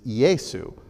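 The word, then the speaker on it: Iesus: is his name well we say Jesus that's our English version but we get our English name from his name in Latin which is yaesu so we take that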